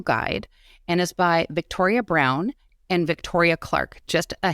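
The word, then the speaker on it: Braun: and is by Victoria Brown and Victoria Clark just a hint of the word wise though Brown is uh it's pronounced brown but it's spelled b r a u n which suggests brwn but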